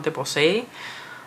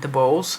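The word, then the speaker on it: DeBose: a supporting role yesterday her name is ariana de posay american people like to say ariana the bose but i don't feel like that's how you would pronounce her last name she was incredible as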